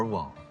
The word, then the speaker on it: 魍: 魅两阶，而魍发音近似王，且一共有 4 个，所以在无风内部称之为 4 方之王。